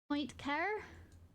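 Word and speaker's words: Poincaré: I'm slaughtering this car Point car I'm just I feel like I should say this correctly it's French of course it's French we are looking at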